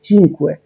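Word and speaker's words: cinque: তো একইভাবে 50 এর ক্ষেত্রে 5 এর জন্য, অর্থাৎ 5 এর উচ্চারণটা হচ্ছে কি? চিনকুয়ে।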